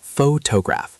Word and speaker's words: photograph: Okay, so the word photograph, the stress should be on the first syllable, photograph. But a lot of learners say photograph or photograph, where they stress different syllables or stress them all equally.